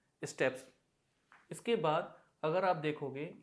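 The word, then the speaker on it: steppes: इसको बहुत से लोग प्रोनाउंस करते हैं स्टेपीज, जो कि गलत है। इसे करेक्टली प्रोनाउंस किया जाता है स्टेप्स।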